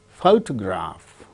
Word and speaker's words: photograph: Similarly, photograph, photographer, photograph. In the case of the word photograph, the first syllable gains stress.